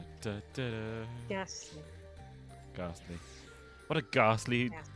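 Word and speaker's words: Gastly: It's Ghast. There is no R. It's Ghast. Ghast. Ghast. Ghast. Ghast. Ghast. Lee. Ghastly.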